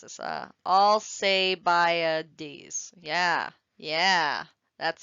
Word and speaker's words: Alcibiades: And because he died from the plague, his leadership was taken over by Alcibiades, I believe is how you pronounce this. Alcibiades.